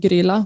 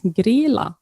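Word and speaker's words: Grýla: the inspiration is uh i have always said gorilla but it's grilla i think how you pronounce it right yeah that's a female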